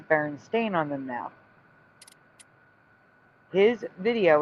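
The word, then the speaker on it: Berenstain: It's Baron Stain, which it's always been.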